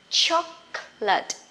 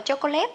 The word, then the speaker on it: chocolate: cờ thôi ha, chữ ca nhẹ bật ra chocolate. Nghe dễ thương vậy mà không đọc là chocolate nha.